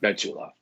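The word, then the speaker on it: בתולה: Otherwise pronounced Betula, not Alma.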